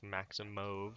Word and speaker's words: Maximov: Anything Cody Brundage versus Nick Maximov. They pronounce it Maximov. So does Maximov. It's not. It's Maximov. spelled Maximov, but they pronounce it Maximov on the broadcast for some You reason.